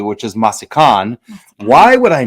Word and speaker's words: Massican: with Dan Petroski with used to be called masin and now I'm pronouncing it correctly which is masan why would I not know it's masakan makes